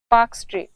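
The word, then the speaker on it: Palk: जलसंधि उसका नाम है पाक जलसंधि इंग्लिश में ये स्पेलिंग में ल भी आता है पर ये ल साइलेंट है तो ये पाक जलसंधि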